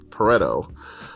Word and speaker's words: Pareto: About a century ago, an Italian, uh, economist, uh, Vfredoto Frederick Pareto, um, and yes, that's how his name is pronounced, noticed a few things from his backyard.